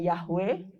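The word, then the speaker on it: יהוה: kepada kepada Musa dengan nama bahasa ibraninya adalah yahwe penulisannya yhwh bacanya yahwe yang artinya adalah aku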